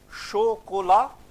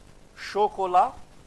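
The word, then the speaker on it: chocolat: Here we follow the rule again. Shokola. Shokola. Okay, we read a sh.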